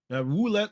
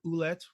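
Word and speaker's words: Ouellette: Wulette loves or Oulette, sorry, the pronunciation.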